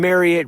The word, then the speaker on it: Marriott: First, JLee out of Washington, D.C., the metro area, and also Vice President of Brand Talent for the Marriott Corporation. Marriott rhymes with chariot.